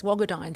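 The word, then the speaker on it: Wagadhaany: of us um tell us about your hero bogadon am i saying it right yes wagodine so wagodine the her name means dancer so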